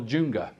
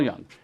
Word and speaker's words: Jung: beings that was by carl junga i think is how you say it you know carl young and i and i